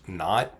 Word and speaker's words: naught: that we have P naught here equal to 0.75 the zero subscript which is pronounced not in this context so um we'll later